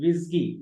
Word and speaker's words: WSGI: इसको बोलते हैं एसगी, ASGI एसगी, और इसको पढ़ते हैं WSGI विस्गी। इसको क्या पढ़ते हैं? विस्गी। वो इसगी और ये विस्गी है ना, वो विस्की नहीं है ना, विस्गी है। तो बी थोड़ा प्रोनाउंसिएशन में ना बी केयरफुल।